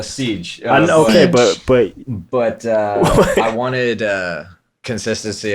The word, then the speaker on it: CYGE: Wait, that's pronounced what? A siege.